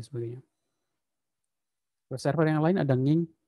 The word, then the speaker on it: nginx: user yang lain ada nginx bacanya bukannya saya baru tahu kalau bacanya itu harusnya Angie next next deh bukan gini unsada Windows